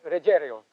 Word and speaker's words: Ruggiero: I'm the last talk show host that's going to mispronounce his name. Si, Ruggiero. You got it. Ruggiero. Si, Italiano, sir.